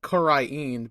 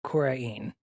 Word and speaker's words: Kurain: It's Kurain Korain. Village. It's spelled Kurah apostrophe IN. So I Right. thought it was, like, Korain. And I've been saying it how they say it in the cutscenes, which is Kurain.